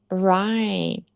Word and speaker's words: right: Write de escrever W-R-I-T-E. Write de certo R-I-G-H-T. But the pronunciation is the same.